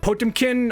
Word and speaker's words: Potemkin: not they're not bad I'm probably gonna get comments about the pronunciation of this name but potemkin that's how I say it so if you